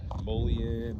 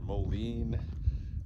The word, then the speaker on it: mullein: a plant in English called mullein or mullein. People pronounce it different ways.